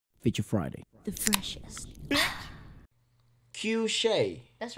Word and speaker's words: Cueshé: feature friday the freshest q shay that's right i'm actually surprised it's because somebody